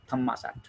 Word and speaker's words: Thammasat: This university in Thai pronunciation, it is known as Thammasat. But actually, they are writing it as Dharma Shastra University.